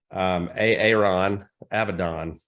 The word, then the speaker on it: Aaron Avedon: Aaron Avedon is the way we pronounce that.